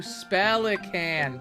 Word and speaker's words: Spellican: with magical awesomeness spellican oh spellican that's how you pronounce it how did I never put two and two together it's like a twocan but for spells uh I think I'm